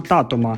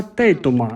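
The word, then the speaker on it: Тейтум: про франшизу супермарк говоримо про ченінга татома А взагалі то про ченінга тей туман бо вірно вимовляти Саме так він тут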